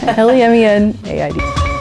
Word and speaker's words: Lemenaid: And lemonade is the way my last name is spelled, which is L-E-M-E-N, and then aid as in, like, help, not like lemonade. So AID, LEMEN AID.